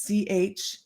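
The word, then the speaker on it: Charoite: Chaurite, it is Chaorite.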